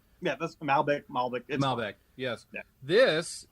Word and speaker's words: Malbec: I have the skeleton the the Malbec I'm pronouncing that correctly right yeah that's Malbec Malbec a Malbec yes this is an Argentinean